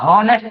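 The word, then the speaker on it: honest: ठीक है तो अब ऑनेस्ट अगर पढ़ो आप ऑनेस्ट बोलो ऑनेस्ट तो ह कहां आएगा फिर आप आ लगा दोगे आर्टिकल लगा दोगे कि नहीं ऑनेस्ट होगा तो साइलेंट रहता है।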